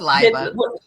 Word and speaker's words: Leiba: I like that pronunciation actually. Did I? It's Did Liba.